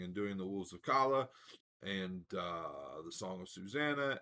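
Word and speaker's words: Calla: They pronounce it Kala. I've always said Kala, but I've never actually, read this one before.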